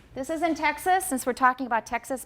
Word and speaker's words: Texas: And then most accents take the vowel in the second syllable of taxis, make it different from that in Texas. They're extremely different for me. Everybody, 很多计程车 taxis. Okay, 德州, Texas. What vowel do I have in the second syllable of Texas? It's a schwa, definitely a schwa.